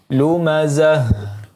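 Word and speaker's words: لُمَزَة: Kemudian lumazah, ya, ta marbutah di sini, maka ketika dia sukun dibaca menjadi ha, ya, ha besar. Lumazah, ya.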